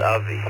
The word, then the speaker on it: Avi: KB9FSE, I believe it's pronounced Avi. Please correct me. Out of Grays Lake, Illinois tonight. How about you? Have you successfully built your own antenna? Good evening, everyone. Yes, it's Avi.